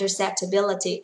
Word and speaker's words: acceptability: Brand acceptability. Ở đây cô sử dụng từ acceptability, mọi người để ý trọng âm của nó sẽ rơi vào chữ bill nhá.